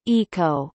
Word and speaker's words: oiko: The so-called Oikostegi, Greek Oiko, pronounced eco, meaning building ecological, and stegi, pronounced stegi, meaning roof abode shelter, was inaugurated in September 2008.